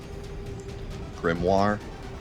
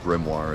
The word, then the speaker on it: grimoire: Grimoir. Is that how you say it? I've heard it say it both ways. I think Grimoire is correct. I'll say Grimoire.